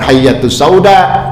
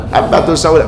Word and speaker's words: habbatus sauda: Nah, orang yang udah punya ilmu atau dia pernah belajar sama gurunya, oh ini salah cetak, ini bukan hayyatus sauda tapi apa? Habbatus sauda, begitu.